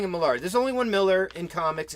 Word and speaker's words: Millar: And Mark Millar is actually pronounced Mark Miller. I know that. Yes. Okay. No, okay. I call him. What did I say? Millar.